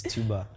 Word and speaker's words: Tubar: he calls himself tuba hello you wish you pronounced the name from light to bow yeah it's tuba come on oh okay say it like you